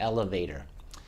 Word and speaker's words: elevator: last sound elevator okay when I say it naturally there's only one stock consonant in that word so it's not a sharp sounding and that is the T on tour and we pronounce that T usually as a D